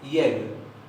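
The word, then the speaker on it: ég: Y se pronuncia yeg, yeg, yeg, que quiere decir yo. Primera persona singular. Yeg, yo.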